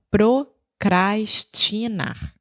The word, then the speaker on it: procrastinar: Então, procrastinar. Sim. Vamos começar com a palavra só. Então, o verbo seria procrastinar. Isso. Minha pronúncia está certa? Perfeito. Procrastinar. Isso.